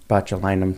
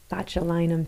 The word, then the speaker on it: botulinum: injected but how do you say it again botulinum toxin botulinum toxin yeah say that so there's Botox there's